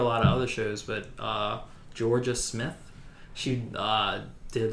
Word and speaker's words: Jorja: Yeah, just because her name is spelled Jorja, and I thought it was Yoria, but they said Georgia.